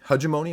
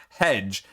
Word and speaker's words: hegemony: going up against hajjimoney hegemony am i pronouncing that right because it's not hedge h-e-d-g-e hegemony as i was pronouncing before hugimoney i'm guaranteed to